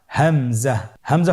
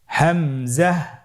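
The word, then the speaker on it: همزة: হামজা পরবর্তী হরফটির নাম হামজা হামজা হরফটি উচ্চারণের ক্ষেত্রেও বারিক করে উচ্চারণ করতে হবে এবং এখানে টেনে পড়া যাবে না দ্রুত পড়তে হবে আপনারা আমার সাথে বলুন হামজা জাহ হামজাহ হামজা হরফটি উচ্চারণের স্থান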